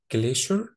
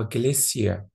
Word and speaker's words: glacier: عندنا الكلمة اللي قدامنا دي لها نطقين، الأمريكان بيقولوا عليها glacier glacier، والبريتش بينطقوها جليسيا جليسيا، دايما ما بينطقوش حرف الار جليسيا، عشان كده اقدر اقولها جليشر اور جليسيا، الاتنين صح، ومعناها نهر جليدي.